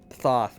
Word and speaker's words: Thoth: No, Thoth, my guy. Are you talking about the Egyptian ibis-headed god of wisdom and the moon? Thoth? It's pronounced Tote.